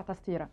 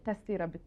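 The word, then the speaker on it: تستيرة: اسمها تستيره بالتونسي، وهي تستيره او باللهجه التونسي كده بتنقال بسرعه تستيره بالطا، بس هي تستيره بالتاء.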